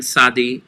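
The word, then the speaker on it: tsadi: same sadi and sadi it's a very noisy s it's usually transliterated t z or t s you don't really pronounce the t you start putting your ellipse together like you're going to pronounce a t but then you go into a noisy s sounds it's the sound of mitzvah and the sound of in english putting on mitts onto your hands gloves on your hands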